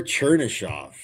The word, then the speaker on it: Chernyshov: Oh, the guy I said who I can't pronounce his name, Chernivtsev. Igor Chernyshov.